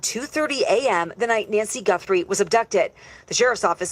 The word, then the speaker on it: Guthrie: There was a hater who was making fun of me saying I was saying her name wrong. You know, people are going to say this, that, whatever. So, Nancy Guthrie, there you go.